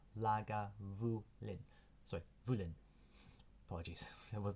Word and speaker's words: Lagavulin: founded the first legal Distillery here at lagavulin pronounced lag Vu Lin sorry vulin apologies there was no dash between